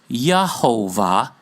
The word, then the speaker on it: Jehovah: up with the word Jehovah J is pronounced Y in German by the way So no it was Yahovah even in this instance and the name stuck